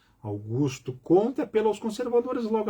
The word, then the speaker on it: Augusto: Basta pôr no Google ali, Internet Archive, Augusto Conte, Augusto, não é Auguste, Augusto Conte, apelo aos conservadores, logo aparece.